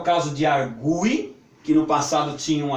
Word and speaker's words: argui: Mas essas palavras nós vamos pronunciar sempre como se tivesse com esse U mais forte.